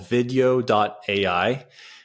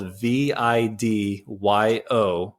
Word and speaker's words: Vidyo: It's called video.ai. It's an AI repurposing tool, and it's spelled VIDYO.ai.